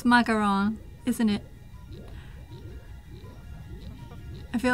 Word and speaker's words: macaron: I can't either but when people pronounce macaron as macaroon macaroon like it's different thing macaroon is the the coconut snack my camera is the